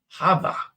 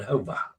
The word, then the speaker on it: Jova: If Jova is a Spanish name, then it's pronounced Hava. Hava. I said Hova. Okay. I knew the J was pronounced like an H, but I did not put it into Hova.